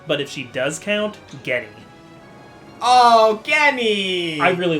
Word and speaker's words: Genny: Okay, she's not listed here, but if she does count, Genny. Oh, Genny! I really like Genny. Genny's great! Funny enough, I think her actual pronunciation is Jenny, but I like Genny more, honestly.